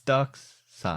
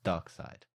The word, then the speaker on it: Darkseid: to say it it's Ducks son well that is how it's spelled yeah but it's dark side okay it's English pronunciation